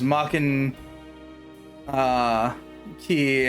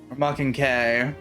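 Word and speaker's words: Maken X: the Dreamcast, and later got known as Maken Key or Maken K, even though the letter's an X. Welcome to stupid things. See the X-Blade for why it's pronounced Maken K.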